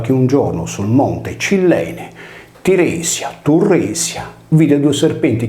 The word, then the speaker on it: Cyllene: Monte d'Accudi è quasi omonimo del monte Cilleine di Creta, pronunciato Cudeine o dell'amore, in quanto la doppia L riportata nei grafemi con le consonanti liquide gemelle esprimeva il nostro suono cacuminale, oggi trascritto con la doppia D.